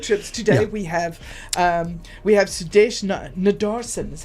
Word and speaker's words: Nadarsen: Well, talking about road trips, today we have Sudesh Nadarsen, is how you pronounce it, eh?